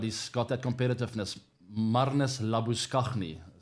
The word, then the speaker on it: Labuschagne: That's how you pronounce it, by the way. It's not Marnus Labuschagne. I know he likes to go by that name these days, but he'll never be Marnus Labuschagne in South Africa.